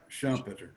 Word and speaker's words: Schumpeter: quote is by Arnold Schumpeter how do you pronounce us that audition Schumpeter Schumpeter okay so it's a quote about Rome